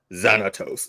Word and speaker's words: Xanatos: Let me say it right. Xanatos. Like Keith David said.